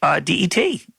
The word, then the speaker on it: debt: used that on the program before debt is de Beattie it should be Det that B is just a waste it has